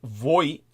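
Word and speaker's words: Vought: choice of Russell V Voit I believe the guy's name is pronounced Voit uh but it's spelled v u g HT it might be VA he's the co-author of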